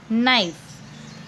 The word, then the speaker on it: knife: Knife, KNIFE, knife. Okay, K silent, we have to pronounce it as knife.